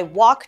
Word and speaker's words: walk: to school every day here we notice w a l k is very similar to t a l k talk but we pronounce talk as t o c k like Tick Tock then we say I walk to school every day so don't pronce ounce that L our next sentence is